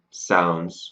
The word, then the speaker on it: sounds: Now, when we write the word sounds, we add an S, but when we write it phonetically, we add in a Z sound because that's the sound we use.